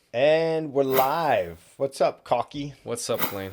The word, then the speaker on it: Calki: yes, I pronounce my name as Kalki, like the state, California, and like Key, like DJ Khaled.